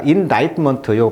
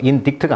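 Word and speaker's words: indictment: 자, 나이먼트요 발음 조심하세요. 인디트가 아닙니다.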